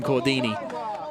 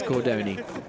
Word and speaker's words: Cordoni: I think he called him Cordini, but it's Cordoni.